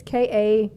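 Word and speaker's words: Kaia: Kaya girl I don't know how to say her name first name correctly it's k-a-i-a-kaya Gerber but yeah that's Cindy Crawford's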